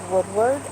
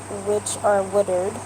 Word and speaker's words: Woodard: I don't know if you guys got a chance to look at my video with Jake Woodward, Woodard. Yeah, it's Woodard.